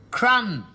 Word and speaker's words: crumb: C-R-U-M. What's that? Crumb. Crumb? What you get in bed when you've been eating biscuits. You don't spell it like that. Don't you? There's a B on the end of it.